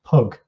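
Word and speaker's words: pygg: saxons was actually pronounced pug they used to pronounce the y with the u sound and it later changed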